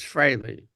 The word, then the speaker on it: Frehley: Because a lot of people pronounce it freely, a Yeah. lot of people pronounce it Fraley." And I said, "Well, actually, there's three. There's freely, there's Fraley, and there's Fraley, like Frailey. Yeah. But the proper pronunciation, from what I understand, is Frehley.